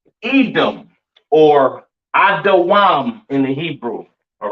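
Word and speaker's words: אדום: All right, pronounced Adawam in the Hebrew. All right. Edom Adawam.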